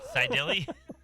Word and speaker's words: Seidel: Seideli?